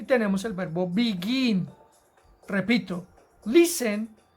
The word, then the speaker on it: begin: es empezar a comenzar tiene el acento en la última sílaba begin begin es la partícula en la que más fuerza hacemos cuando eso ocurre entonces